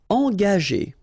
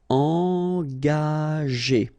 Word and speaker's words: engager: Okay, so remember that G is a tricky letter, because if you combine it with A, like it's the case here, you will pronounce it ga. Okay, but if you combine it with like it's the case here, well, R here, the sound E, it will go like G. Okay, engager, engager.